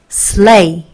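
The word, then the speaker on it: sleigh: l이니까 복사가 되죠 레이 여기 gh는요 묵음이에요 발음이 되지 않아요 무음이고 그러면 sl이니까 so 하고 L 복사돼서 르 a까지 오는 거죠 gh는 발음이 안 된다고요 그죠 발음이 안 돼요 그러면 합쳐서 slay slay 이렇게 되는 거죠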